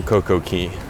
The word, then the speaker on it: CocoCay: as can be on CocoCay. Yeah, because it's pronounced key, not K, so it shouldn't be a perfect day on CocoCay.